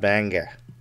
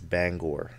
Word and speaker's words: Bangor: it's not Banga it's not banger nobody calls it that unless you're like from Down East it's Bangor come on now don't